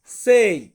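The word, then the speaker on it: sei: ছয় এই ছয় কে আমরা ইতালিয়ান ভাষাতে বলবো সেই সেই মানে হচ্ছে ছয় তারপর আছে সাত সাত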